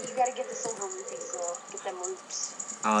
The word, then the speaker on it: Rupee: I think in Zelda 1, they're actually just called roops, because they're, like, spelled with one E. But they're supposed to be pronounced rupee, but there was just